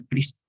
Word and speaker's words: CRISPR: Hoy en día, gracias a una herramienta que se llama CRISPR, se deletrea C-R-I-S-P-R, CRISPR se pronuncia.